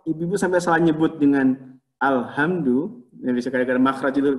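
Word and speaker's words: الحمد: Tapi hati-hati ibu-ibu, jangan sampai salah nyebut alhamdu dengan alhamdu, itu dua makna yang berbeda. Dua kata yang berbeda. Hati-hati, karena kita nyebutnya ini yang khusus bahasa Arab itu punya ha, punya ha, ya. Ha dengan ha.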